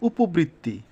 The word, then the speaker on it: উপবৃত্তি: মত হবে কি বলেছে মধ্য অ এর পরে যদি ঋকার থাকে তবে অ এর উচ্চারণ ও এর মত হবে যেমন উপবৃত্তি এখানে এই যে মধ্য প এর নিচে মনে মনে কি আছে অ আছে এজন্য উপ হয়ে গেছে আর এটা যথারীতি ঋকার থাকলে বা যদি যুক্ত ব্যঞ্জনের মত উচ্চারিত হয় তাহলে দুই হয়ে যায় এজন্য এটা দুইবার হয়েছে উপবৃত্তি উপবৃত্তি ভেঙে সুন্দর যদি যতটা যত